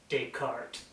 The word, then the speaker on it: Descartes: Oh, the person you're trying to pronounce is Descartes.